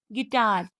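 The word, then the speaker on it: guitar: जब जी के बाद और ई आई इन दोनों वोवेल से पहले यू आए तो वह साइलेंट होता है। जैसे गैस गिटार डाय गिस गिल्टी।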